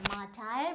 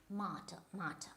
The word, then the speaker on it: martyr: So it is not a martyr, but it is martyr, right?